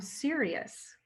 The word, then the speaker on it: Sirius: your star of origination you're from sirius that's like the like serious radio that's how it's spelled yeah and now you'll